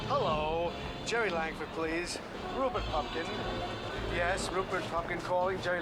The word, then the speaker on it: Pupkin: Rupert Pupkin.